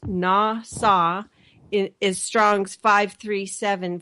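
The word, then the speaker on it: נָשָׂא: pointed out that the word NASA and it's pronounced na saw his Strong's five three seven five and it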